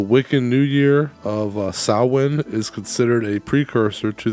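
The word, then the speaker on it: Samhain: that uh the wiccan New Year of uh sawin is considered a precursor to the modern Halloween uh Dr Lumis told me it's pronounced Sam H well uh today it coincides with Halloween on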